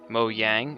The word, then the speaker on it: Mojang: well let's just say Mojang or Mo Yang as it should be properly pronounced uh nerfed our TNT